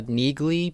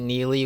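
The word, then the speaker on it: Neagley: In the book, her name was pronounced uh Nigley, but in the show, they they pronounce it Neely, which I'm just going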